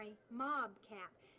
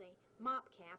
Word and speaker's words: mob cap: What I'm wearing on my hat is called a dust hat or a mob cap, and I had always thought that they were called a mop cap and that people were just mispronouncing it, but it really comes